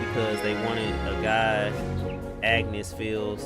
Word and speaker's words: Agnes: I always say Agnes for some reason, but Agnes. I'm trying to pronounce her name right.